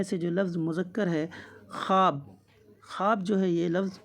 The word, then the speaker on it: خواب: معدولہ جو ہے وہ خواب میں ہے۔ واو معدولہ اس واو کو بولتے ہیں جو لکھا تو جائے لیکن تلفظ اس واو کا نہ کیا جائے بلکہ الف کا تلفظ کیا جائے۔ سوال نمبر 30 ہو